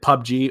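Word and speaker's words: PUBG: I don't know that what that is but pub G is short for player unknowns battle grounds you know for a fact that that's how they pronounce it pub G or do they say PBG so they say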